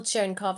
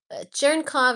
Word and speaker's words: Cherenkov: So first we'll look at um first we'll look at optical churnov neutrino detectors.